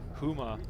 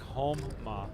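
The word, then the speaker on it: Houma: Whoa you totally butchered Huma Louisiana he says it sounds like HMA well that's not how it's spelled I'm sorry but I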